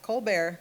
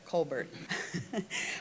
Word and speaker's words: Kolbert: Tonight, our featured guest is Elizabeth Colbert. Not Colar, Colbert.